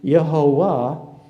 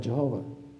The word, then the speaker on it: Jehovah: the word comes from German so you have yahovah but uh because German doesn't have a J but when it comes into English you have j instead of Y and then you have Jehovah okay so it doesn't matter if I lost